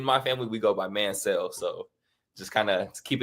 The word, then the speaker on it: Manciel: Me and my family, we pronounce it Mancel, like M-A-N and then S-E-L-L, like Mancel. I've heard Manciel.